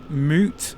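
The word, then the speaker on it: Mout: It's pronounced moot for reasons unknown.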